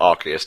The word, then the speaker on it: Arceus: type plates you know arus or archist to use its proper pronunciation uh can become literally